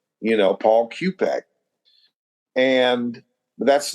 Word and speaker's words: Q-Pek: with the pig q-b K you know Paul cupc and that's not the real way I spell my name my name is cupc but it's spelled it's a Polish name but pronounced cupc but I started spelling it phonetically because when